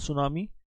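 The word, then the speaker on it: tsunami: विश्व सुनामी जागरूकता दिवस world सुनामी awareness day, world सुनामी awareness day, sorry सुनामी की स्पेलिंग ये साइलेंट हो जाता है।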